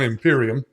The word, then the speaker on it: empyrean: Of course, that's pronounced a couple of different ways. I settled on Empyrean. You may have settled on some other pronunciation, but that's all right. You do yours, I'll do mine.